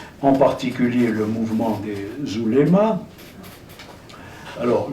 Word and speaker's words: ouléma: Parce qu'il est apparu des mouvements musulmans traditionnalistes, en particulier le mouvement des oulémas. Alors, je dis ouléma, ça, en arabe ça se prononce oulama, mais je ne vais pas faire des vocalises.